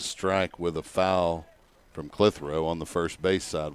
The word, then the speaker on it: Clitheroe: You want to say that as one syllable, it's not very easy. Clitheroe. It's really two syllables, I guess.